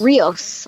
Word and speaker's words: Rios: Rossi owed who's the captain Oh Rios yes Rios I always say his name wrong you know when Rafi is in her